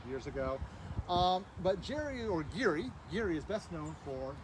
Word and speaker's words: Gerry: one over there is our Jerry or Geary really is he pronounced it L Ridge was the